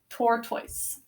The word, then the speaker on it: tortoise: T, or, syllable break. T, oi, s, silent final E, job number 5, tortoise.